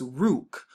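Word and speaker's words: רוח: is the r sound we see the u to make the oo sound and then we have the cot right here so when we put it together it just makes rook rook now of course they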